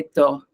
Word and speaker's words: tort: Vous êtes raison, vous avez raison, या vous avez Vous- tort. Vous avez tort. Vous avez tort. ठीक है, tort. Tort. R pronounce करना है, yes.